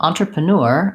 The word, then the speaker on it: entrepreneur: included those phrases was if you have trouble remembering how this word sounds, it might be easier for you to remember, even though this is kind of a funny phrase, smells like manure.